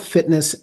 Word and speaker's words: FTNSS: app Etc well uh so it's spelled Fitness ft NSS just like grinder is g r i ndr and uh you can